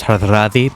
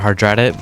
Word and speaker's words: Hardrada: And there's this guy, so his name, according to Wikipedia, is pronounced Hardrada, but I'm going to pronounce it Hardrada because that's the way it looks, and Hardrada is kind of weird to say.